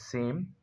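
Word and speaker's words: Sejm: You can pronunciate it as same.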